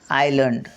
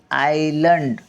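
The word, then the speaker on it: island: पंचमहाभूते व इतर हे शब्द अभ्यासणार आहोत इंग्लिश स्पेलिंग उच्चार आणि मराठी अर्थ पाठ सहावा पाच झाले आपले पाच सहावा तर बघा आयलंड आय एस एल ए एन डी आय एस एल ए एन डी आयलंड आयलंड म्हणजे बेट गल्फ जी य एल एफ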